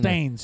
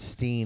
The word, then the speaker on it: Berenstain: Or Steens. Or is it the Berenstains? Steen. Is it Steen, Steins, Steen. Or Stains? Yeah. It's not Stain, it's Steen.